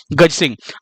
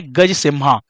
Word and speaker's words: Gajasimha: अब यहाँ पे एक चीज ध्यान रखिएगा, हिंदी में तो हम गज सिंह बोल रहे हैं, लेकिन इंग्लिश की अगर हम बात करें तो इसकी जो स्पेलिंग है वो क्या है? वो है GAJASIMHA, है ना। इंग्लिश में इसकी स्पेलिंग क्या है? गज सिम्हा। दरअसल जब इसको लॉन्च किया गया था तो इसी नाम से, लेकिन इसको गज सिंह बोला जा रहा है।